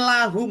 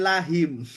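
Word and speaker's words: لهم: Nah, tapi kita bacanya lahum bukan lahim.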